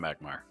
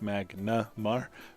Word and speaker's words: Magnar: of magma or from magmar from magma okay magmar is invading so just because it annoys me it's magnar but you can continue to call it for the pokemon if you like